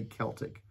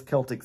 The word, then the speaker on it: Celtic: i c right but when it's spelled that way and it's the basketball game or the boxing game whoever those Sports people are it's called Celtics everybody else calls it Kel okay I remember that